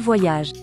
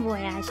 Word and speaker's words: voyage: Il voyage. Il voyage. El S está silenciado. Todos los S casi en francés que están en el último son silenciados.